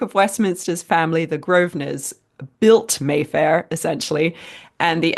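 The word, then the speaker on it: Grosvenor: course is in London and uh and and groer is it's spelled g r o s v n o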